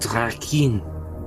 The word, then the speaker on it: Drakkhen: As it is pronounced Drakkhen.